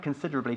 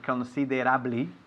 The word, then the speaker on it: considerably: And we emphasize, just like Nieves is doing, the second syllable, considerably.